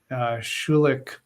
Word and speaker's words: Schulich: studies at Osgood Hall law school and the Schulich if I pronounce that correctly School of Business Elle welcome